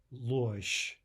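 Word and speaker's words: ложь: Losh, losh. There again we have what looks like a soft zh, but it's the same as in the word we just looked at. It's devoicing to a sh sound at the end of the word.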